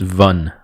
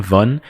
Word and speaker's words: Van: It's a popular Vietnamese woman's name, except it's pronounced Vun. All right, it's more like a VUN, Vun.